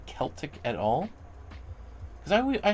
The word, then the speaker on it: Celtic: Barbara says, "Celtic is pronounced with an S." So, it is Celtic. So, does anybody ever say Celtic at all?